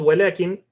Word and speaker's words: وَلَكِنْ: If you notice, it's spelled walakin, but it has a alif saghira here, so you need to stretch it.